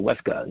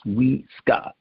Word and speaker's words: Wiska: I dated a Hawaiian girl, and in Hawaii, indigenously, every letter is said individually, and we have a tendency to Weska. It's Wiska. It's likely Mama Wiska.